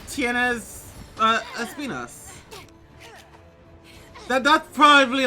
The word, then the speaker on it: Espinas: Well, here's the thing: Espinas is actually the proper pronunciation of the word in Spanish. Yeah, I just don't. It's not Espinus though. It's just funny to call the monster Espinus. Yeah, like Espinas is like closer to how you should actually be pronouncing it.